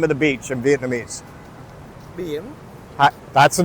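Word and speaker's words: Biển: Bien. That's the name of the beach? Yeah, Bien.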